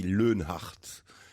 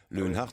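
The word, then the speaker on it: Loenhard: Et le mien, il est difficile à prononcer parce que ça se dit Leunhardt. Leunhardt, c'est très très germanique.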